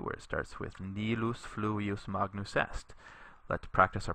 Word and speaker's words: fluvius: Notice that you put the accent on the u here, fluvius, because the I here is short. There's no macron over it, and it's not a diphthong.